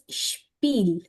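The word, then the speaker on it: Spiel: for example जब एस और टी इकट्ठा आ रहा है किसी स्पेलिंग में किसी भी वर्ड में तो हम उसको बोलते हैं श जैसे द शपील शपील शपील या जैसे वो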